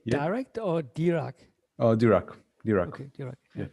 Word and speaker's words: Dirac: Oh, Dirac. Okay, Dirac. Yeah. It's like American pronunciation of Dirac, but yeah, Dirac.